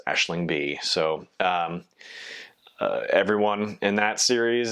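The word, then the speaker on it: Aisling Bea: Her first name is spelled Aisling, and her last name is spelled Bea. And I'm pretty sure it's pronounced Aisling B.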